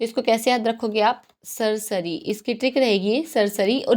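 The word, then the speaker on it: certiorari: देखो कौन सी रिट है ये हमारी, सरसरी इसको बोल सकते हैं, सर्टियोररी आप बोल सकते हो, नो मैटर, आप इसको किसी भी तरह प्रोनाउंस कर सकते हो, बट we pronounce it एज सरसरी।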